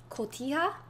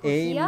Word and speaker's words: Cotija: Cotija?